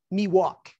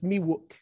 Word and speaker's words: Miwok: A lot of people mispronounce that. They say Miwok. It's Miwok.